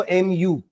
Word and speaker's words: mu: खींच देना ऐसे इट is known as μ pronounce करेंगे इसको mu है ना μ इसका डेफिनेशन लिखते हैं इस